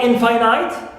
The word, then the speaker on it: infinite: Prim stress through in also infinite in is stressed and also impudent M